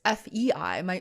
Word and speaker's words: Fei: name written on zoom so it's fei my name is very universal in terms of its pronunciation but in spelling fei is chinese and also it's kind of german in german i think it's like people say five's world or something and uh yeah so